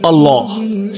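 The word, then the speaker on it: الله: কিন্তু আল্লাহ শব্দটি উচ্চারণের সময় এই নামের প্রতি সম্মান প্রদর্শন করতে আমরা তাফসিম করি। অর্থাৎ ভাব গম্ভীর স্বরে উচ্চারণ করি আল্লাহ।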